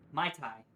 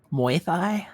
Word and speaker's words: Muay Thai: The goon starts prancing around like a Mai Tai. Why did I have to say that wrong? Mai Tai boxer. He's smiling, but his eyes send a clear message. Actually, Zed, it's pronounced Muay Thai.